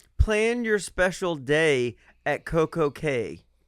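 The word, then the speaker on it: CocoCay: They're things like, "Plan your special day at Coco K." No, Coco Key. That's how you say it, right?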